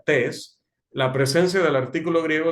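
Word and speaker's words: τῆς: expresión que ven allí que se pronuncia test la presencia del artículo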